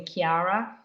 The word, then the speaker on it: Kiara: name is not Nicole I'm actually Kiara sounds like a K sound we just use Nicole's